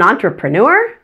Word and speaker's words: entrepreneur: the first three syllables the first syllable en is pronounced on like the word o n as in my pen is on the table the next two syllables